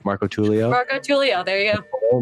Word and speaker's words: Marcotullio: Marcotullio?